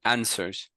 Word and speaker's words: answers: answers answers answers yeah the W is silent and answers okay answers some answers